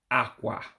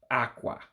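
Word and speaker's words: ákwà: for my understanding of how to pronounce bed an ebow it would be aqua aqua meaning that you have to drop your voice in order to pronounce it correctly for instance cloth is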